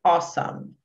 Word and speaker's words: awesome: É O, tem som de O, e o SOME tem som de SOME. SOME, awesome. Awesome. Não tem som de O, não. Não é awesome, não, tá? Awesome. Não pronuncia esse último E, tá? Não é awesome. Não pronuncia o último E.